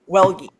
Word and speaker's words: Welge: Like, no, just be like, oh, hey, by the way, it's pronounced Welge.